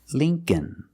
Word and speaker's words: Lincoln: e it's Lee link Lincoln Lincoln the second L is silent so it's link Lincoln remember the first syllable is